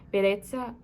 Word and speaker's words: bellezza: How do you pronounce the double L? I think in Italian it's just like an L, not like in Spanish, a J. Bellezza, accetto che tu mi